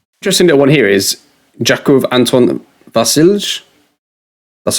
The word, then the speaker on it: Jakov Anton Vasilj: Interesting little one here is Jakov Anton Vasilj. That's how you pronounce it.